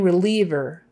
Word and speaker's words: reliever: painkiller painkiller killer pain reliever pain reliever that i is e you say it like an e reliever reliever reliever pain